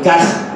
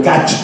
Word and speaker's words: Kach: fundador de un partido que se llama el Kaj o el Kach. Se escribe K-A-C-H.